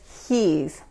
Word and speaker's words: he's: He es his. Okay. Escuchen esto. La S normalmente en inglés, cuando es al final de la palabra, se pronuncia como la Z en inglés.